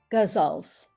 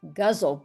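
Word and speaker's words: ghazal: We'll do a few more minutes of your gazals. How do say say how to pronounce it? I've always heard it in India as gazle, but I don't think that's right. It's gazal.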